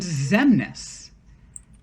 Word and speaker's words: Xemnas: And the leader of this organization is named Xemnas. Xemnas. Take that X out. Look at those letters you have left. What could that... Can you respell that? Spell? Xemnas. Nas. Like Lil Nas.